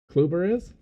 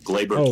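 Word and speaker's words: Gleyber: Clubber. No, Glabber Torres.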